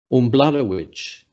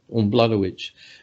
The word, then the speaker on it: Umbladawitch: That name on the screen is pronounced Umbladawitch. Not that you'd be able to realise that looking at it. Umbladawitch, which is up somewhere near Utopia, northeast of Alice Springs.